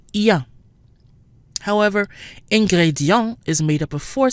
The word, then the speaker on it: ingrédient: If we compare the two words chia and ingrédient, we'll see that even though they both appear to have the combination I-E-N, which we said is pronounced ya, the combination sounds different in each word. Chia, ya, but ingrédient, yan.